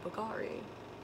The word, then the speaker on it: Bulgari: Then I got this perfume sample, Bulgari.